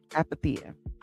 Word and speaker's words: Apatheia: Again, pronounced app the uh apaththea.